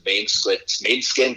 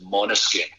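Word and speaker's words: Måneskin: Everyone says Mainskin, but I believe it's Monoskin.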